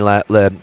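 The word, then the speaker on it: Lammens: You can see it in Lamans. I don't know how to pronounce his name. I say Lemons and they're calling Lamans.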